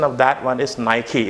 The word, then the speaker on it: Nike: of that one is nike it's not mike it's my key okay this is how